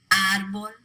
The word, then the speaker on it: árbol: Béisbol, lápiz, árbol, Gómez. All 4 of those words end in a consonant other than N or S. They should be pronounced with the stress on the last syllable, but they're not.